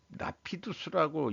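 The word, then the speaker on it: Rapidus: 일본의 반도체 시설 지원 현황인데 라피두스라고 일본식 우리는 빠르다 그러면 래피더스라고 발음해야 될 것 같은데 3,300억엔 어, 보조금은 6,460억엔 또 배정했다.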